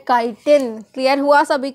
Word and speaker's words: chitin: अब देखो ये कुछ बच्चे क्या करते हैं, इसको CHITIN को चाइटिन पढ़ते हैं, बट प्रोनाउंसिएशन एक्चुअल में होती है काइटिन।